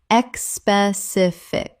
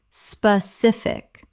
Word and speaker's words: specific: Common mispronunciation, expecific. Correct pronunciation, specific. Three syllables. There is no e at the start. It begins with sp, not esp.